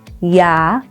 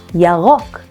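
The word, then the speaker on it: ירוק: And green in Hebrew is Yarok. Yarok. Here's another chance at pronouncing the R in Yarok. Remember to roll your tongue?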